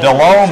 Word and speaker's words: Delhomme: Carolina and Jake Delhomme, or Jake Delhomme if you want to pronounce it correctly, finds Drew Carter in the back of the end zone there at St.